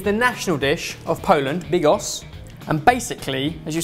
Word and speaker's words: Bigos: You said Bigos very confidently, like that is exactly how it's pronounced. Bigos. Yeah? Big, or as in rock, right. And as in sign, Bigos.